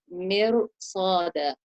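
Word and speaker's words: مِرْصَادًا: In that case, the Ra, even though it has a sukoon and it has a kasra or a zair before it, we are going to recite it into a heavy sound because of the harf al-isti'la that's come after it. Like in the word mirsada.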